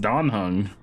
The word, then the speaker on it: Dan Heng: We've always called him Dan Heng. I guess it is Dan Heng. It's always been pronounced Dan Heng.